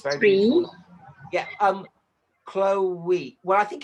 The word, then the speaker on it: Chloe: I would So, say Chloe is two syllables. okay. Even though the way it's spelt, it looks like it should be one syllable, I think.